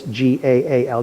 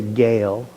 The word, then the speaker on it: Gaal: So, when you see this g a l, don't say gale, like we might say, it's whenever you see two vowels in a Hebrew word, you pronounce each vowel separately.